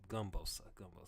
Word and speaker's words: Gumbosa: I keep on saying Boosa. It's Gumbosa. Keep on getting that nigga name wrong.